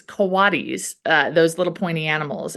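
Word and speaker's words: coati: It's not cotis. It's kowadis. Um oh wait kotamundi. Kawatti mundi. Kowadmundi. Yeah. And so it's weird because it looks like the English word coat.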